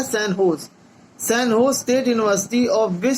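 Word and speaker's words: San Jose: recently the sign जो spelling है, लेकिन इसको बोला जाता है, प्रोनाउंस किया जाता है सैन होज state university of which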